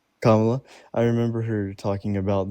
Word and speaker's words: Kamala: Kamala. Kamala.